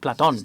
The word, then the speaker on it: Platón: In theory, in accordance with what Plato used to say, you pronounce it Platón in Spanish, don't you?